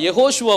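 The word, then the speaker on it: יהושע: ஓ அப்படின்னு சொல்லி போடுறேன் யா ஓ சுவா இதை உச்சரிக்கும் போது என்ன பேர் வருது யெகோ சுவா யெகோஷுவா வந்து நம்முடைய இரட்சகருடைய உண்மையான பெயர் நாம சுருக்கமா இயேசுன்னு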